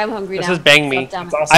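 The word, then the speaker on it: bánh mì: The correct pronunciation is Bang Me, or something close to that. It's not Ban. It's Bang. Oh.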